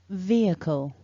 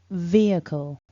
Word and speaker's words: vehicle: the word back together remember we stress the first syllable repeat after me vehicle vehicle vehicle so don't forget to